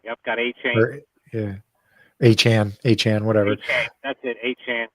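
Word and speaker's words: Achane: How do you say his name? A chain or some shit like that. Yeah, A-Chain. A-Chain. Yep, got A-Chain. Yeah. A-Chan, whatever.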